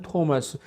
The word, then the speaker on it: 토마스: 근데 이제 우리가 일본 시대 때 영향을 받은 사람들이 성경을 번역하다 보니까 T자를 전부 D자로 발음했어요.